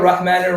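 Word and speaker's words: رحمن: Yes, so Rahim could be Bismillahir Rahmanir Rahim. You could go 6 counts. Rahman, you can't go Rahman.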